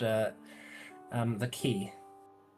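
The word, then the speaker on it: quai: called uh um the key. That's spelled like qu. Uh, yes. It is actually spelled qu u a i like the French word.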